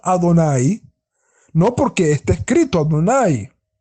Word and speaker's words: Adonai: nombre que es el nombre sagrado que lo pronunciamos adonay no porque está escrito Adonai sino que allí